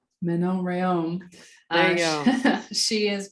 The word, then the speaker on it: Manon Rhéaume: I'm going to ask you to pronounce her name because I know I'm going to butcher it. Manon Rhéaume. Manon Rhéaume.